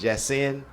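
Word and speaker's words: Yasiin: out most def or Yasin yes however you pronounce it y a s i i n I think it's jasen or Yen b or something like that so that's what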